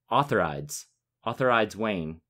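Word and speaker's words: Utherydes Wayn: The second man is, now Roy Dotrice pronounces this name Authorides Wayne. It's a very tricky name to say. I'm sure it could be said many different ways. I said Eutherides when I read it.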